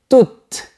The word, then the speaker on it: toute: Donc, au féminin, on prononcera toujours le T. Voilà un autre exemple. Je voudrais rester toute une nuit avec toi.